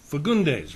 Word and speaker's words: Fagundes: My guest for this segment is the DA, the District Attorney from Kings County, Keith Fagundes, right? Did I pronounce that right?